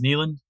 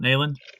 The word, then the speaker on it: Neyland: It's Neyland, not Nayland.